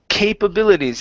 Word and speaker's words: capabilities: Next up is capabilities instead of capabilities. Capabilities. Capabilities. Okay, give me a long E at the very end instead of capabilities.